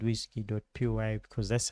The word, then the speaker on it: WSGI: So, if you see wsgi application, it basically points to a file called whiskey. py because that's how it's pronounced, but it's wgi.